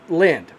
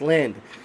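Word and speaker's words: Lynd: And Lind is spelled L-Y-N-D, guys, Lind.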